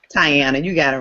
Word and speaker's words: Tyana: Tyana, you got it right.